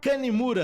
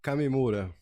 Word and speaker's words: Kamimura: Arborizaí Green Tech, Kanimura, acertei a pronúncia? Kamimura.